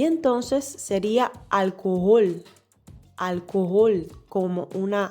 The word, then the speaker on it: Alkohol: Aquí quiero destacar la pronunciación de la palabra alcohol. En este caso, en español sabemos que la H no suena y diríamos alcohol. Pero aquí la H suena como una J en el alemán.